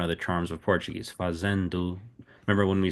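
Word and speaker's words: fazendo: You see the endu fazendu fazendu. Are the Are the vowels pronounced the same as in Spanish?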